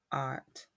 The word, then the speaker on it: pilot: a pilot or a pilot? Pie, as in pie, lit is correct. And even though you hear lot, see lot on the end, it's actually pronounced lit. It's just spelled with an O.